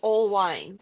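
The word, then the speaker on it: Oelwein: You have wine, but it's spelled O E L W E I N, but pronounced old wine.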